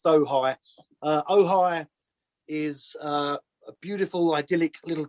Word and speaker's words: Ojai: okay it's oh hi it's spell o spelled o-j-a-i um it's been called ouija it's been called oj it's been called whatever you just called it it's it's actually pronounced dohy uh ohi is a beautiful idyllic little town in california